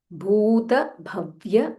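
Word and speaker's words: भूतभव्य: Vishvam, Vishnur, Vashatkaro, sh, Murdanya sh, and there is half t, Vashatkaro, Vishnur Vashatkaro, Bhuta Bhavya, Bha Mahaprana, and it is Bhu Dirgha, Bhuta Bhavya Bhavat Prabhuhu.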